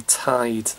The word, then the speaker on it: taid: or granddad or were of you we say tied that's our name 9 ask your grandmother or